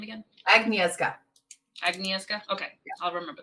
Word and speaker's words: Agnieszka: How do I pronounce the name again? Agnieszka.